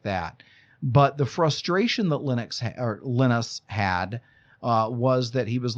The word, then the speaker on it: Linus: by a guy named Linus Torvalds. Now, you may say Linus. He does not pronounce his name Linus.